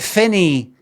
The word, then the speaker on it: Finnie: But Finny, you got to say Finny. So it rhymes. You can call me Finny. So you got to say it like you're no Glasgow. At least no my part of Glasggo where I grew up. You got to say it like that.